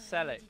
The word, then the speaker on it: Selix: I think it's Selix. You think it is. You think it is? Yeah. Oh, wait a second. It's like Steelix, but without the T.